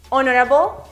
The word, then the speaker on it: honorable: Para los derivados de honor también aplicamos esta excepción. Honorable, honorably.